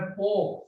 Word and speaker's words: pork: क्योंकि जिस प्रकार चूहे को फांसने के लिए, चूहे को फंसाने के लिए चूहेदानी में, उसमें पोक, सुअर के मीट को पोक कहते हैं, PORK, आर साइलेंट है, पोक या चीज डाला जाता है।